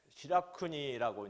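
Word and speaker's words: しらくに: 그 다음에 시라기 메이진이라든지 그 다음에 시라쿠니라고 이제 이 시라기를 시라쿠니라고 발음을 하게 됩니다.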